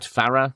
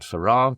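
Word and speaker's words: Farrar: And into this world comes our titular character Brat Farah or Brat Farra depending on your pronunciation.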